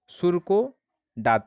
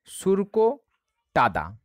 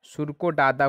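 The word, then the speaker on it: Surkotada: হয়ে যাবে বি, অর্থাৎ সুরকো দাঁত থেকে পাওয়া গেছে। এই উচ্চারণটা সঠিক হলো না, সুরকো টাদা, সুরকো ডাদা কোনো জায়গায় থাকে, কোনো জায়গায় টাদা থাকে, হ্যাঁ ইত্যাদি।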